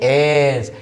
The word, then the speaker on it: edge: पहले अगर डी आया तो डी हो जाएगा साइलेंट, राइट. और भी है एग्जांपल, वो है EDGE. आप इसको क्या पढ़ते हैं? एस.